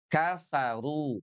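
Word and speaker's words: كفروا: Tsa tsa, si fu kafa, kafaru tuh kafaru. K-nya ada angin yang keluar apalagi fa kafaru.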